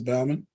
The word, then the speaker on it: Bauman: found me today sister bauman am i saying your name right maybe i'm not sister vanessa are you there i am i had to unmute yes it's bow like cow okay i did say